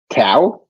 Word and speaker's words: Kaw: sure say it again cow k-a-w k-a-w pronounced cow um i couldn't tell